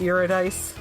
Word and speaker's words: Eurydice: It's Greek, so it's not pronounced how you think it should be. Eurydice, it's Eurydice.